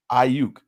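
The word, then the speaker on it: Aiyuk: Ayuk.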